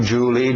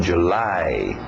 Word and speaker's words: July: final, April, May, June, July, nada de Julie, Julie é o nome próprio escrito de outro jeito, July, A e o U fazendo o som de A.